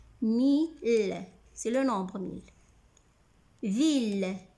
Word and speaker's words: mille: Mais I deux L ici ne se prononce pas I. Ici, on a deux syllabes. Mi et le. I complète la première syllabe et les deux L font la deuxième syllabe.